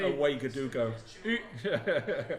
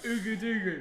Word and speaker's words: Ouagadougou: Ouagadougou. Ugudugu. Well, I used to pronounce it like that.